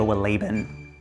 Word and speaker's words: Wohlleben: The Hidden Life of Trees by Peter Wohlleben. Pretty sure that's how you pronounce it.